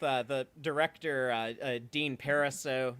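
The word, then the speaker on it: Parisot: the director uh Dean pariso that's how I know the t is silent but he was saying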